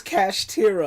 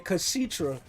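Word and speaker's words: Kashtira: Also, I am saying this name wrong. I just realized it's Cash Tira. I was saying Kashitra, but as I stated before disrespectfully, Ryeki here, heart of the cards.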